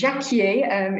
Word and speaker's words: Jacquier: It's Jacquier, it's the French pronunciation.